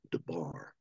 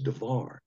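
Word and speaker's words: דבר: the word div now it looks like it's should be pronounced Darbar with a B but in Hebrew it's pronounced with a V so it's darar when you look up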